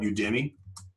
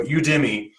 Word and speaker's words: Udemy: It's supposed to be U Academy. Is like the it's the we'll play on words. So Udemy, and what there's like 300,000 courses on this website.